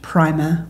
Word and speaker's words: Prima Facie: And you can just search Prima or Prima, however you like to say it, Facie, Prima Facie.